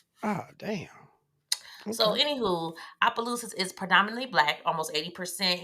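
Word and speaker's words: Opelousas: Adam Frank Senor and she grew up in Appaloosas Louisiana a very small town what' you say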